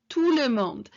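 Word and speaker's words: tout le monde: little phrase this tulum tulemond and the t here at the end of the two is silent so bonjour touremont bonjour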